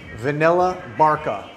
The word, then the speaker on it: Vanilla Barca: of those, which is, I want to make sure that I pronounce the name right because it's so small. Yes. Vanilla Barca, like vanilla bark, right? Where vanilla comes from.